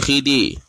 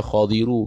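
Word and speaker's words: الخضر: Wa ammal khadiru, dan ada pun bermula Nabi Khidir. Dia baca macam mana? Khadiru ke Khidir ke apa? Atas pandangan sahih, cara baca khadir ke Khidir. Khadiru. Kalau saya ambil hadis sebut khadiru bukan khidi.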